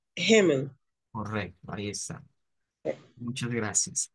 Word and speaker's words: Himmel: Como que va a ser una J, como una JE más o menos. Así suena esa ahí. Himmel. Himmel.